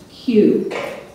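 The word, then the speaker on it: queue: you all the information okay the word is pronounced q q is a noun and it means a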